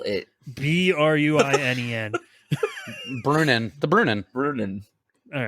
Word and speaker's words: Bruinen: were afraid to enter the waters of the Brunnen. I can't fucking say that right. Spell it. The river Brunnen. Spell it. Bruinen.